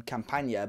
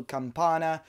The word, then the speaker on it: Campana: Leonardo camp Anna and I realized that I was pronouncing his name completely wrong in old videos I think I was going in Campania but Leonardo campanha from Ecuadorian side Barcelona